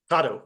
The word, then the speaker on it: Kato: it's Kato, correct, like an avocado. Gato. There you Yeah, go, yeah, it's all Gato. good. Yeah, people say Kato, it's fine, Right.